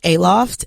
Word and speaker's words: Aloft: Put the emphasis on the wrong syllables.